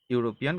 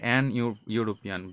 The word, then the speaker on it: European: Belgium is a European country, not an European, because E is pronounced like you, European, yo.